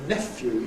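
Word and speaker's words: nephew: of this, of course, I recommend the pronunciation , even though it's not the one I use myself.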